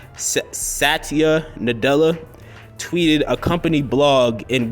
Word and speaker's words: Satya Nadella: name um by accident but I think it's pronounced Satya Nadella tweeted a company blog in which the tech